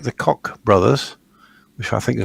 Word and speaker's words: Koch: because people like the Koch brothers, which I think is a highly appropriate name for those two. Coke. It's actually Coke. Oh, Coke, is it?